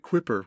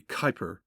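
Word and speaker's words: Kuiper: We've been pronouncing it quipper, where it should be, Kyper.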